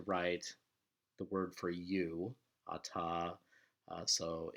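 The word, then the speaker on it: אתה: the word for you, ata. So it's masculine singular you. And you'll notice in your book it can also be written without the hey, but it's still pronounced ata.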